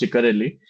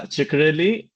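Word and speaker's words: Ciccarelli: would suggest finish either Ciserelli which for some reason my Fred said friend said key is pronounced Chikarelli okay yeah Chikarelli or Morgan and King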